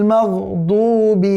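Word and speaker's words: مَغْضُوبِ: হ্যাঁ, খবরদার, মগদুবি কোনো শব্দই নেই। কেমন? মগদুবি পড়া যাবে না। মিমের উপরে যখন জবর আসবে, আমরা সামনে আলোচনায় আসবো, জবরের উচ্চারণ হয় বাংলায় আকারের মতো। সুতরাং গায়রিল মাগদুবি, গায়রিল মাগদুবি, মিম জবর মা, মিম জবর মা।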